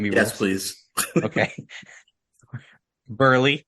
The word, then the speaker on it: Buehrle: Mark Burley.